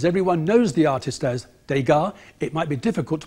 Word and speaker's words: Degas: This is the spelling, D-E-G-A-S. He pointed out that, as there is no acute accent over the E, it shouldn't be Degas, but Degas.